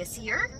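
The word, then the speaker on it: Æsir: So that Aesir. The ae or the as is more of a o sound.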